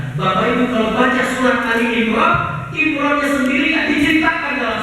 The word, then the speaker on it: Ali Imran: al-qur'an adalah surah Ali Imran surah Ali Imran bacanya Ali Imran yang artinya adalah keluarga Imran surah Ini Istimewa